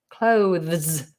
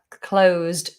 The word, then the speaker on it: clothes: feels natural to me what's important is that you don't say the word clothes as in i've closed the shop the shop is closed we close on christmas day um i need to close the window so you have to find a happy medium between the two clothes clothes i tend